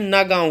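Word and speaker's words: नगांव: न नवा गांव है नया गांव जिसे भी बोलते हैं या वहां के भाषा में प्रोनाउंस में ना गांव होता है तो हमारा जो गोला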